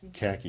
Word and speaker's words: Kaki: Yeah, item number 26, BB-BB03, request to approve beer application for, is it Kaki? Khaki.